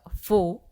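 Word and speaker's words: faux: फो tree अस म्हणतात एफ ए यू एक्स याचा उच्चार फो असा होतो फो प्लांट किंवा फो ट्री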